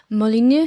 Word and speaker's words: Molyneux: Molyneux. Molyneux.